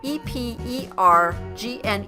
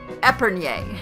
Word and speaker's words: epergne: And that's spelled E-P-E-R-G-N-E. And I used to say it Epergne, and it's not. It's Epergne.